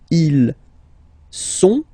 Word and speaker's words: ils sont: Okay, ils sont, final T not pronounced, ils sont, elles sont.